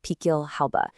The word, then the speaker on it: Pickelhaube: So its official name is the Pickelhaube. That's pronounced Pickelhaube.